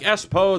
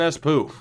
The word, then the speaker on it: Espoo: It's pronounced more like Espo than Espoo.